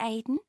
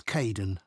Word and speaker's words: Kaeden: Hi, Aidan. It's Caden. I'm so sorry. Oh, don't worry. People often get my name wrong.